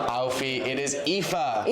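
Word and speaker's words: Aoife: It's not Alfie. It's not Alfie. It is EA.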